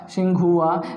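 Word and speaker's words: Tsinghua: सिंघुआ, लेकिन वो टी से शुरू होता है, टी साइलेंट है।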